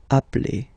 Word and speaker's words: appelle: So when you get this a vowel and then you get a double consonant, and well, they are the same, then it does change the pronunciation of a. You tend to pronounce it like really open. That's the reason why you pronounce it appel, okay?